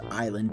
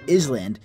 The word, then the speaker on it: island: sound it out, and I said Island, and my teacher said, no, it's not Island, it's island, and I'm like, what the fuck you mean it's island?